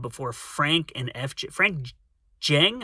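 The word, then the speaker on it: Djeng: Frank Jing, I think the D is silent, and FJ DeSanto.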